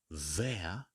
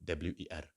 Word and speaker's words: wer: I would ask by saying, wer, now get the pronunciation correctly, W-E-R, wer.